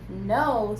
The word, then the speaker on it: know: go okay yes because know starts with K and even though we don't hear and the K is silent we still have a